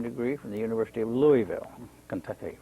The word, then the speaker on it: Louisville: If you're from Louisville, you pronounce it Louisville and not Louisville.